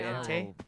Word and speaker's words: Entei: Oh, is that how you say it, Entei?